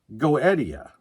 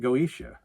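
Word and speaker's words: Goetia: and that's the tie breaker so this is pronounced goettia and this is an EP self-titled EP you know the other one pronounced it goesha but then I found two videos that said go Eddie and then I found a website that wrote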